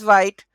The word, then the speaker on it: Vite: What is Vite? Vite, pronounced as wheat, French for fast.